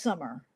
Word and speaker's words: Samar: Oh pronounced summer.